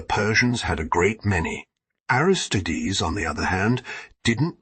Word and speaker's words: Aristides: Cleese and the other aristides pronounced heires tides notice how many Greek